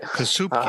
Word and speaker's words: Kasubke: Plus, just add in the fact Luke Kazubke, I think I got that right. Kasubke. Looks good to me. Actually, I went to the phonetic pronunciation. The media guide is Kasubke. Soup. Kasubke? Yeah, soup.